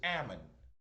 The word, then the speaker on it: Hammon: Remember that the H is silent, so it's Ammon.